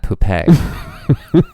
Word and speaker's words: Poupée: Also, Marionette is a fantastic drag name, but I would want her, it would be like Marionette Puppet, but it should be pronounced like Marionette Poupée.